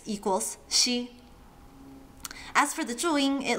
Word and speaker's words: ㄒ: And we finished the palatal initials with she as in she went to the restroom.